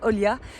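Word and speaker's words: olha: plus subtile c'est Olia si vous remplacez le i avec un H en fait mais ça se prononce Olia ça veut dire regarde en portugais moi qui suis une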